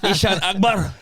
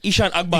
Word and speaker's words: Eshaan Akbar: is it Eshaan Akbar? Eshaan Akbar. Eshaan Akbar, yeah.